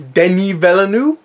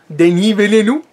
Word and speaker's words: Denis Villeneuve: I think it's Denis Villeneuve. Denis Villeneuve. I think that's how you pronounce it. You say it like that, Denis Villeneuve.